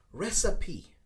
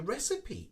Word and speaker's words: recipe: don't say sip okay we actually break it down into two sounds recipe recipe all right kind of adding in a p okay recipe all right i can give you the recipe if you like let's